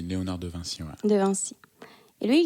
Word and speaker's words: Léonard de Vinci: Vinci, en prononce. Oui, en français, tu dis Léonard de Vinci.